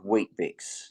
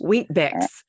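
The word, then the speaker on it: Weet-Bix: is a very Australian thing so it's called wheat biix it's spelled we TB IX wheat BX wheat so you have to go and do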